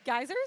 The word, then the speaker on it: geyser: Oh, like right in front of the geysers or something?